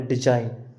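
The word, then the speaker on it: design: एन से पहले अगर आपको जी दिखे तो हम जी का उच्चारण नहीं करते। जैसे लिखा हमने डिजाइन, डिजाइन, एन से पहले ई आया तो यहाँ पर हम नहीं करेंगे।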